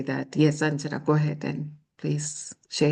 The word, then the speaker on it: Anjana: clarify for Catherine that in India we pronounce the J, unlike in Spanish, if it helps. So it is Anjana.